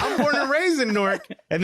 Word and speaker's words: Newark: I'm born and raised in Newark, and this is how it's supposed to be pronounced, N-O-R-K.